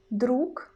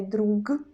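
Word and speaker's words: друг: example in the word druk in the end we don't pronounce gu we don't say drug drug no we use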